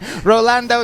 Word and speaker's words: Rolando: Philippines telling me that I was pronouncing the name wrong. Rolando, not Ronaldo.